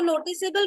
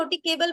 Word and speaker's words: noticeable: if it is CE, we must retain the silent E so that the C does not become hard. Because होगा क्या अगर हम ये E हटा देंगे तो वो noticeable रहेगा या noticable बन जाएगा?